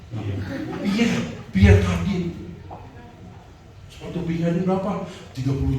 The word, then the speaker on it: Pierre Cardin: Emang lo aja bisa beli Pierre Cardin, Pierre. Bahasa Prancis dulu. Kita bacanya mesti dengan lafal Prancis. Pierre Cardin.